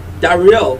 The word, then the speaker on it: Dariel: this is set on for instance dariel da real which is d-a-r-i-i-e-l is an angel our candies which sounds